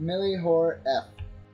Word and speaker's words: MillhioreF: the very beginning, but some people feel that F at the end is actually supposed to be pronounced, but it is just a standalone F, right? Yes. So, it's just MillhioreF. You say Millhiore.